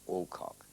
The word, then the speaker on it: Alcock: the girl and saying Alcock, providing he doesn't emphasize either the first or the second syllable.